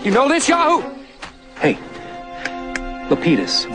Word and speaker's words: Lapidus: Hey, Lapidus. They pronounce it Lapidus, but I think the correct Greek is Lapidus.